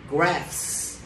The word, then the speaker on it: graphs: BH nó sẽ được phát âm là phờ, giống như là photo đó, các bạn thấy không? Được chưa? Photo. Được chưa? Thì âm phờ đó nó nằm trong thời phong kiến phương Tây. Được chưa? Cho nên là được phát âm là graphs.